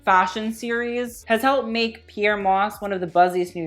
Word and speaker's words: Pyer Moss: you guys don't know Pierre Moss pronounced Pierre Moss not Peyer not here Pierre well then you haven't